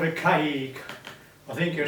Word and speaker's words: caique: It was called a caique. I think you spell it C-A-I-Q-U-E.